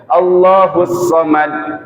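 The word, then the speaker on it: الصمد: Allahus Samad pakai sa misalkan, bukan pakai sod. Allahus Samad harusnya sod, kita bacanya pakai sin misalkan. Artinya juga pasti beda.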